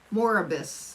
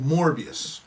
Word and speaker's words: Morbius: you don't even remember uh moribis or oh morbius morbius yeah we saw that we saw that